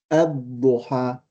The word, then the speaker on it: الضحى: So we say wad, wadduha. If we keep the waw away, we will say a, ad-duha. So the same thing, the lam is still dropped, but we pronounce the alif.